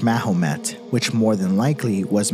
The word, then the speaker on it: Mahomet: In Old French, the name Mohammed is pronounced Mahomet, which more than likely was misheard as Baphomet.